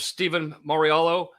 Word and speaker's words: Steven Mauriello: today's guest a very special guest we have stephen mariello is that am i pronouncing that correct steve perfect man perfect thank